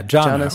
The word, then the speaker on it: jhana: Yeah, jhana or dhyana. Dhyana, if you want to be Sanskritier, but I like jhana because I'm more Pali most of the time.